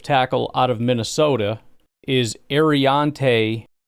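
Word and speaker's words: Aireontae: Offensive tackle out of Minnesota is Ariante Ursary. There's an R in there, and it's Ariante, not Arianti.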